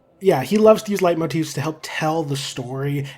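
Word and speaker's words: leitmotif: is it light motifs I used to pronounce them leap motifs because of the way it's spelled but I think it's actually light Motif let me double check yep according to Google it's light Motif so the more you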